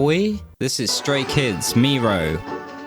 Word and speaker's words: Miroh: Today we are going to be looking at Miroh by Stray Kids, not Miroh. I've been saying it wrong all along. It's kindly corrected in the comments.